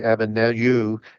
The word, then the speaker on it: Abednego: Shadrach, Meshach, and Abednego, and as probably Abednego, as it should be pronounced, work as administrators for the Babylon, and Daniel decided to stay at the court.